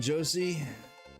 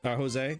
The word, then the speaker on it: Jose: Welcome in, Josie. Jose. Sorry, I said it wrong.